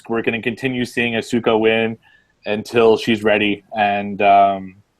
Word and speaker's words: Asuka: I pronounced it right this time. Yeah, Asuka.